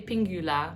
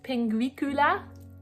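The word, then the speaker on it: Pinguicula: pronounce that ping p i want to say pingula but it's not that butterwort i looked it up i think it's penguikula penguikula and it has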